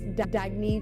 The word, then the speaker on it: Dagne: can live life intentionally oh it's pronounced dagney do dagy means new dawn it's a new dawn